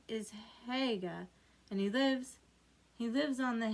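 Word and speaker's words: Haigha: His name is Haga." He pronounced it so to rhyme with mayor.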